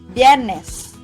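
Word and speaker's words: Biyernes: in miraculous and webes most native speakers pronounce bierness by omitting the sounds of letter i and just combine the sounds of b and y bienes again bienes additional information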